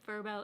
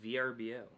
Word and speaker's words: Vrbo: i don't like verbo i like vrbo i don't know why i don't like verbal it sounds like the word verb with an o on the end it's like somebody tried